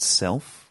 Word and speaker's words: Cellf: So the first episode of the series is my friend Guy Ben-Ari, and he has a project called Self, which is spelt CELLF, so like a cell.